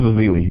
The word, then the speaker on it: Ezeli: point is they had Festus Ezeli, or whatever, how you pronounce his name. He came in and played good. So no, you got it right. Yeah, it is Ezeli.